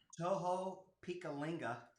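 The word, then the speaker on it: Tohopekaliga: So I'm buying this land on Lake Tohopekalinga. Boom. Perfect pronunciation.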